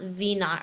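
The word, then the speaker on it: v₀: So this says, use the position function s of t equals negative 16t squared plus v naught, this is pronounced v naught right here, t, plus s naught for an object moving vertically near the Earth's surface.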